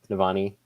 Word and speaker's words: Navani: Is it Navani? Is that how we pronounce it? I can never figure out how to pronounce her name. Navani.